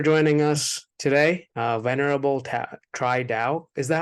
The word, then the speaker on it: Tri Dao: thank you for joining us today uh venerable try doubt is that how you say it your name cheat out okay what makes you fearful about the future